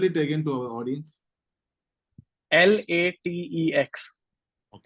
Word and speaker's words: LaTeX: Is it a LaTeX? Is a free one or they have to pay it? Yeah. LaTeX is free. It's essentially a programming language. Or can you spell it again to our audience? LATEX.